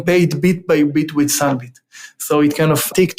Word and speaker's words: Sunbit: space and we were looking for something that is rhymes with either credit or debit but doesn't have this